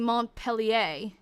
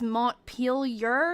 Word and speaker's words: Montpelier: So maybe that's what's throwing me off, is I'm thinking, yeah, they're all French names, so like I was saying Montpellier, but it's Montpelier or something.